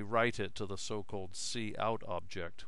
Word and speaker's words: cout: And we write it to the so-called cout object which is standard output